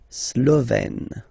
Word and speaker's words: Slovène: Remember, E accent grave, you open it, Slovène.